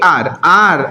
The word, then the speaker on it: hour: She asked if I would be there in AR, R not hour, R pronunciation कैसा है? R, H is silent here, तो यहाँ पे ए लगेगा क्या?